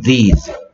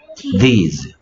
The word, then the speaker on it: these: 발음은 this하고 비슷하지만 these. th가 있으니까 마찬가지 혀를 살짝 물고 소리 냅니다. 뭐라고요? these. these.